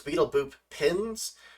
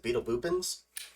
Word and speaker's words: Beetle Boopins: It's Beetle Boop Pins, but I always just pronounce it Beetle Boopins. No, that's how I've always pronounced it.